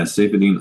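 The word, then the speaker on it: Saifedean: is that how I say his name yeah safine I'm safine yep so let's talk a little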